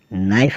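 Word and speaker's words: knife: चलते हैं के अल्फाबेट की ओर जिसमें के साइलेंट रहता है के एन ओ टी नोट मतलब गांठ के एन आई एफ ई नाइफ मतलब चाकू के एन ए वी ई नेव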